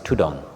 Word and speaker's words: Thudong: Tai word the derivation or the way it's pronounced is tudong so Forest monks began to be called tudong